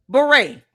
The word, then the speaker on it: beret: You know, beret only has five letters, two syllables. Beret. Beret. Two syllables, five letters.